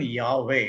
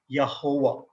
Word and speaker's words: Yahweh: main is not even yahweh you know even that is the wrong way of saying it's like yahuwah like right now vijay